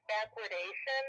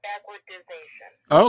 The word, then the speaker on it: backwardation: It's backwardation. It's not backwardization.